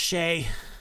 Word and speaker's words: Shai: So Shai Gilgeous. Wait. Jordan's in here saying, you're saying his name wrong. It's pronounced Shay.